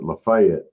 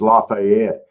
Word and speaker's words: Lafayette: They're calling it Lefayet, but it's Lafayette. I think the people in Georgia, especially the people that are from Lafayette that call it Lefayet, they're saying it wrong.